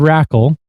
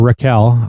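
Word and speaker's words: Rakell: Pontis Holberg, Adrien Kempe, Gabriel Landiskog, Elias Lindholm, William Nelander, Elias Person, Rickard Rackle or Raquel, I I think it's pronounced Raquel, uh Lucas Raymond, Alexander Wenberg, and Mika Zabanagad.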